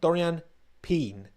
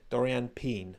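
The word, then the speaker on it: Doriane Pin: peen now quick one Dorian pen is how she pronounced her own name in a social clip that Mercedes posted so like alpen pen Dorian pen so that's literally what she said so her name is Dorian pen people saying P or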